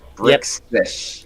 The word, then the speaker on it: Brixus: You got to really pronounce that right, because you say it too fast, you say it wrong. Brixus.